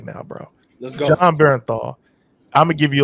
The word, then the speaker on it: Bernthal: I always say his name wrong, but I call him John Benadryl, and that's not his name at all. But the guy that plays Punisher is John Bernthal.